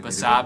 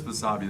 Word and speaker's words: Basabe: I can never say his name when I Basabe? need it. Yeah, whatever Ethan just said. Ostavis Basabe.